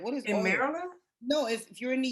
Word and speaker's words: Maryland: pronouncing things too like instead of saying maryland people who are really from will say merlin yeah and there's a